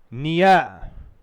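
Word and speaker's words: near: निया निया क्योंकि मैंने उस दिन भी बताया था आपको कि जैसे मदर तो र को साइलेंट रखते हैं। मदर नहीं बोलते उसको मद फाद ब्रौध इसी प्रकार निय इय हय फेय इसमें आर साइलेंट रहता है।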